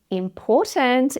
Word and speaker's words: important: So the OR spelling in important is an OR vowel sound, the OR sound in awful. And the O spelling after the T is actually a schwa, important. The schwa is still a vowel sound, so we have vowel sound, T, vowel sound. Important with a true T or important.